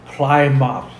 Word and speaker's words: Plymouth: Plymouth. You want to say it again now? Yeah, Plymouth. No, Plymouth. Plymouth. Ply your Just imagine teeth in the mouth. I. There's an I where the Y is.